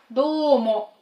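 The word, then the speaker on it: どうも: Давайте начнем с фразы номер 1, и фраза эта звучит как «домо», «домо». Пишется хирогана, и «до» у нас долгое, «домо».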